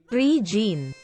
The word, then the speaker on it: Regine: phenomenal by the way her name is pronounced as tree gene thanks for those beautiful